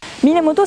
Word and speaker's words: Minamoto: Minamoto, ça s'écrit comme ça, mais ça c'est la prononciation japonaise, le kunyomi.